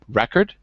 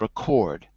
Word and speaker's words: record: When you have a noun, it's a word like record. When it's a verb, we switch it and it's record.